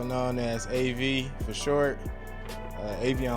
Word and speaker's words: Avion: Avion, also known as AV for short. Avion like the water, spelled with an 8-0.